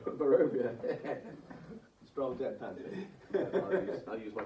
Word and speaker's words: Barovia: It's pronounced Bavaria. I had to double look then. you saw it. I had to look down at the thing. No, it's not. It's Barovia.